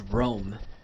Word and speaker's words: Rhoam: No, the H is not silent, so that's why it's Rome. Rome. You don't spell Rome with an H.